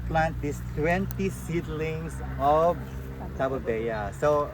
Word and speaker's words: Tabebuia: So tamang pronunciation ay Tabo Tabo Bea.